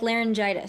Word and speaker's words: Lahren: good how's it pronounced it's pronounced like laryngitis there you go that's the